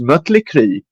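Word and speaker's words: Mötley: that is actually how if you look look at the uml out in her name it's supposed to be pronounced mutle and I will go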